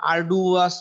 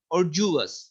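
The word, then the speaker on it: arduous: ওকে, এরপর হচ্ছে এই উচ্চারণটা দেখেন, আমরা হয়তো বা আরডুয়াস বা আরডিউয়াস এরকম বলতাম, এই জন্য বাংলায় লিখে রাখছি শব্দটা হলো অর্জুয়াস, শব্দ উচ্চারণটা হলো অর্জুয়াস।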